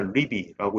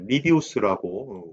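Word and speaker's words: Livy: 음, 우리가 이제 해설해 보시면 영어는 이제 리비라고 읽어야 되겠지만 어, 이제 리비우스라고 우리가 보통 얘기를 하는 거 같아요. 그죠? 자, 우리도 이제 리비우스라고 해보죠.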